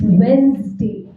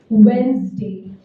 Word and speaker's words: Wednesday: बीच में Z का sound आता है. It's Wednesday.